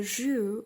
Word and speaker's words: jus: About the jus, I didn't say what it is, but it's actually juice. Okay, it's the juice. You say in French, jus, but it's really, really hard to pronunciate it while you're American or English.